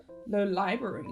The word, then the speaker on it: Lolibrary: Lolibrary. So there are 2 ways of saying this word. Lolibrary with the stress on the 2nd syllable and lolibrary with the stress on the 3rd syllable.